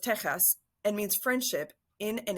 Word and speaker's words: Tejas: means colored or beautiful Texas is pronounced Tejas and means friendship in